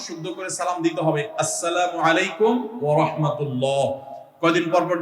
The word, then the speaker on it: আসসালামু আলাইকুম: প্রচলন বাড়াতে আমরা কি করতে পারি শুদ্ধভাবে সালামের উচ্চারণ বাড়ানোর জন্য শুদ্ধ করে সালাম দিতে হবে আসসালামু আলাইকুম ওয়া রাহমাতুল্লাহ কয়দিন পর পর দেখবেন কতগুলা সেকুলার